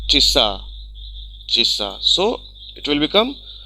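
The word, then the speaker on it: часа: Though it is written cha a s a, spelling will be cha a s a, but it is pronounced chissa.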